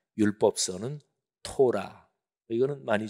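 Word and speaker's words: תורה: 이런 것들이 쭉 들어가요이 세계 덩어리를 히브리어로 이렇게 발음합니다 율법서는 토라 이거는 많이 좀 들어보셨죠 그래도 그 다음에 두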